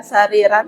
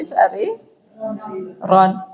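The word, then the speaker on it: سريرًا: Huruf rohnya kalau fathah jadi cenderung ke oh ya, enggak sariran tapi sari ron.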